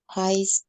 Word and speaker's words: high: k ya cara membacanya High School gnya gak dibaca High have already graduate kalau